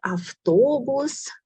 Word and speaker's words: автобус: And we also had автобус. In the middle we have v, but we pronounce as f.